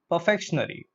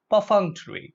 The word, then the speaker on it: perfunctory: I've given you the word along with this pronunciation okay so look at the word perfection perfection airy look at the word perfect perfection Airy perfection